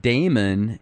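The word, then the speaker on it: daimon: old definition of demon it actually used to be pronounced Damon and the Greeks looked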